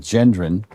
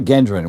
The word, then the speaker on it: Gendron: I went walking with Gendron out around, which is the proper way to say that, by the way. Yeah, it's not Gendron.